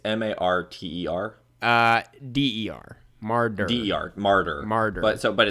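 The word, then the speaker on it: Marder: it's m-a-r-t-e-r uh d-e-r mardu martyr mardu but so but it's not it's not martyr like the religious like that's why i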